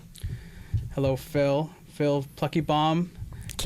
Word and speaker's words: Pluckebaum: It's Plucky Bomb. If you're not giggling, you're saying it wrong.